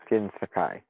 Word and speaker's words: Jin Sakai: Jin Sakai uh Jin Sakai jinai that's it Jin Sakai yeah so I kind of wanted to see